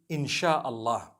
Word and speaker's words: InsyaAllah: If you look at, the Malay language, they write InsyaAllah, the S-Y-A. They pronounce the S-Y the way we pronounce S-H.